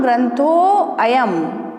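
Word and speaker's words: ग्रन्थोऽयम्: क्या कहते हैं इसको अवग्रह चिन्ह कहते हैं संस्कृत भाषा में, और इसका उच्चारण अ से होता है। ठीक है ना। तो कैसे उच्चारण करेंगे इसका हम, ग्रंथो अयम।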